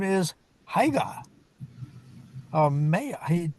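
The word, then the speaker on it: Haigha: His name is Higa. Maya. He pronounced it so it rhymed with maya. Haya.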